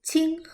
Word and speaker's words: Qing: viene de esta dinastía ahora la última dinastía es ching ing no podemos equivocarnos indre